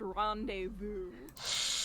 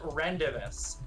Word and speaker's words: rendezvous: rendezvous but this was rendezvous which means they acknowledge that the z is silent again like english spelling